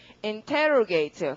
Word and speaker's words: interrogate: 우선 D를 붙일 테고 모두 다 그 강세가 접두어에 있잖아요. 지금 abrogate, arrogate 그러니까 어떻게 derogate 이렇게 되는 거죠. 자, 그 다음에 밑에 보시면 신문하다가 있죠? 맞죠? 신문하다. 그러면 보통 신문하고 이럴 때 인터뷰처럼 하는 거니까 인터를 붙이시고 강세는 역시 접두어에 있어야 되니까 발음이 interrogate 그렇게 해서 이 4개는 확실히 외우시겠죠.